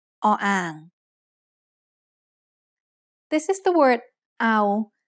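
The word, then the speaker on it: เอา: O-ang makes no sound in this word. So all we have is the vowel ao.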